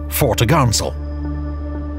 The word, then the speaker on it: topgallant: Her large, square sails included the forecourse, fore topsail, pronounced topsail, and fore topgallant sail, pronounced foretogarnsail.